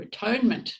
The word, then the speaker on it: atonement: So he's saying always set off with the idea of attunement or at-one-ment. Or atonement. There's another way to pronounce that too, isn't there? At-one-ment and atonement.